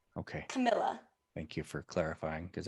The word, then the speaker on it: Camilla: Camilla or am I saying it right okay Camilla thank you for clarifying because I thought I